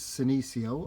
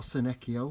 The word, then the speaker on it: Senecio: 2 more of my favourite plants is this angel wings, which is Senecio or Senecio, whichever way you prefer to pronounce it.